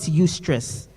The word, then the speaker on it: eustress: We call it eustress. That's spelled EU.